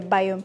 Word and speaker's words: Biome: So if you don't know how to pronounce it that's all right but if you want to know how I would pronounce it it will be a biome.